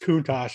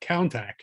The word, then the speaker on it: Countach: cars from all those posters uh was actually pronounced kunos and not KAC but count it's not either here nor there